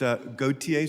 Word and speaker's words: Gautier: It's Gautier, sir, unless you're in Mississippi, and that's Gaucher.